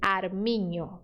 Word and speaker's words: armiño: que está no português, que é o som do NH. Por exemplo, ninho. Ninho. Se escreve assim, ó. Ninho. Quer dizer criança, tá? Ninho. Você viu que é igual a pronúncia do português, ninho.